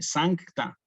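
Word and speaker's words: sancta: por ejemplo en Santa que se destaque se que se escucha está ese sankta Santa María Mater day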